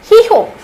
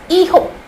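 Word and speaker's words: hijo: yeah I would call heho not heho it's eho eho H is silent in Spanish H is silent eho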